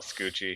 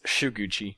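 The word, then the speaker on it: Shukuchi: literally just call it scoochie because i don't care no shoo i know no it's just says gucci anywho if you're gonna say it right it's shuguchi but that's right i'm never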